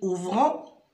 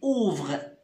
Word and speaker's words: ouvrent: terme afin est ce qu'on dit ouvrant non on dit ouvrez c'est le verbe ouvrir à la troisième personne du singulier on écrit eux t mais on ne prononce que ouvrez les écoles ouvrent qu'est